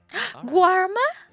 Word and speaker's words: Guarma: again just you just have to remember that the first syllables are guar like like yeah right like a gene you know so we'd